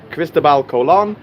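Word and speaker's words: Cristóbal Colón: there is called christabel christabal colon is how you say christopher columbus in spanish um christopher columbus that's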